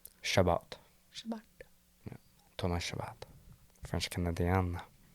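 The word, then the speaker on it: Chabot: So How do you pronounce that name? Shabbat.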